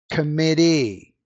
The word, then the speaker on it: committee: Did you catch that words in English that end in EE? The stress is on the final syllable. Absentee, committee, attendee, referee.